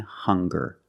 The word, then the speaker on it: hunger: Also, we have these two words, hungry and hunger. They also make the same sound with the nasal sound and the hard g.